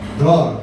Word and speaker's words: דְּרוֹר: So, pronunciation po ng meaning of freedom, release, liberty is draw.